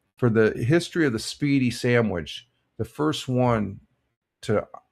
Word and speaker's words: Spiedie: Double J says, I always thought it was Speedy, same pronunciation. Yeah, pretty much. It's spelled Spiedie.